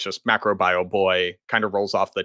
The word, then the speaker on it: Macrobioboi: So it's just macro bio boy, kind of rolls off the tongue, MBB, and kind of looks nice.